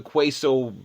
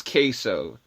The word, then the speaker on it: queso: It's queso, isn't it? I call it quao because god forbid I No, it's it's queso. That sounds like someone is undecided. Like queso.